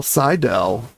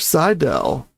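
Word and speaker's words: Seydel: Sidell, George." So, I think his name was probably pronounced Jurgen, but I think that translates to George in English and that he musled him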